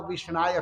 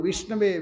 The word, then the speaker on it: विष्णवे: जो पढ़ा लिखा नहीं हो भगवान को विष्णाय कहता है। संस्कृत के अनुसार ये गलत उच्चारण है, लेकिन भगवान उसको देखते